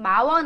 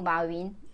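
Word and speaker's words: 马云: 저기 라임님 마원 아니고 마윈.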